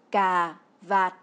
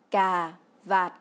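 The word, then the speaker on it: cà vạt: pour dire la cravate en vietnamien on dit car va qui se prononce car vas y si on ne garde pas le son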